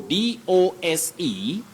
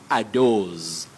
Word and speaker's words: dose: So D-O-S-E, don't say a dose. Z, no. Say dose. A dose of the drug. A dose. Dose. With what we call the voiceless sound, s, dose.